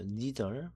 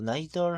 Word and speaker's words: neither: neither, 뭐 neither 하고 발음하기도 합니다. 아무 상관없고요.